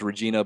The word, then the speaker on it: Regina: Regina Regina yeah it's Regina but they pronounce a Regina yeah I think that's the name of of the town it's like population two or 300 her name rhymes with vagina yeah chores yeah clus